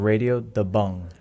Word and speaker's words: Radio Da Bang: And the pronunciation for that, it's actually Radio Da Bung.